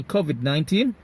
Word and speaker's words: COVID-19: COVID-19 ออกเสียงตามได้เลยนะครับ COVID ทีนี้เพิ่มเข้าไปคำว่า 19 ครับเพราะมันจะมีเสียง stress ที่ตัวแรกครับ COVID นะครับตัวที่สองก็เป็นออกเสียง stress เสียงหนักที่ teen COVID-19 Okay, that's great.